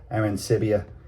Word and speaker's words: Arancibia: Okay, you've got, I'm going to pronounce his name right. He played in the big leagues, this guy. It's JP Arancibia.